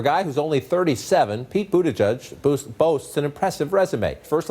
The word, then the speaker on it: Buttigieg: It's not Buttigieg, it's not Buttigieg, and it's definitely not Buttigieg.